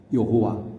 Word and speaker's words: 여호와: 그래서 뭐라고든 읽어야 될 텐데 그래야 후대에 하나님을 믿는 사람이 그 하나님을 호칭할 수 있을 터인데 그래서 마소라 학파들이 나름 모음자를 붙여서 야훼, 여호와 이렇게 부르게 된 것입니다.